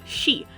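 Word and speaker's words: し: This is because one reading for the kanji for 4 is shi, which is the same pronunciation for death in Japanese.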